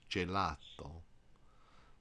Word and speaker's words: gelato: a sea is except the soft G is g j is in jello one word you may